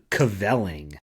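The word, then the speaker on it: kvelling: Okay, the word cavelling. Or to cavell. To cavell. Mm-hmm. Right away, I think of compelling, just because it sort of rhymes. Oh, okay. Compelling and cavelling.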